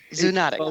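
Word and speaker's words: zoonotic: I'm trying to pronounce the word. Zuonic. Zunatic. Zunatic. There we go.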